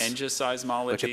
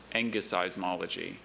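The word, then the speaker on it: engiseismology: Are there any alternate pronunciations? I have three. You think this is tough on the kids? Ng seismology and angismology. That combination of pronunciations may give them a clue. Sure. But knowing a group would be big. Ngismology and Angismology. Angismology.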